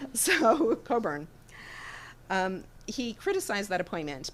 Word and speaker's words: Cockburn: mispronounce his name but sir cockburn Coburn Coburn okay the the British drop a lot of con I've been discovering so Coburn um he criticized that appointment because he said that Coburn was outwardly partisan and